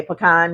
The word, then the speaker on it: pecan: cracks me up because he's like, you love pecan pie also. Kev on stage, he loves pumpkin pie. And he gets so much slack about that. We pronounce it the same way. Pecan, yeah.